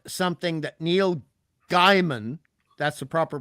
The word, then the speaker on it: Gaiman: And the proper Fantastic Four is not something that Neil Gaiman, that's the proper pronunciation, not Gaiman, Gaiman.